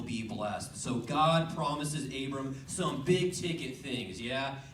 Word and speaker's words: Abram: he has a cane his name rhymes with flay blam it's abram that doesn't quite rhyme but anyways god promises